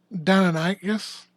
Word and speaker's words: Deinonychus: It's Deinonychus? Deinonychus? Yeah. So that was a raptor. Yeah. Are you talking about Jurassic Park, the 6-foot turkey? I mean, I guess. Yeah, that's Deinonychus or Deinonychus, depending on how you say it.